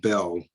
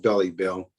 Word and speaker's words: Belle: My name is Belle, Belle. It's a French, not Belly Bell.